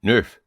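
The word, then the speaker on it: neuf: Nine nerf.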